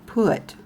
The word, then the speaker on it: put: Another example from my son's spelling is the word put. Like you put P-U-T, put. You put something up or you put something down on the table. It rhymes with the word foot.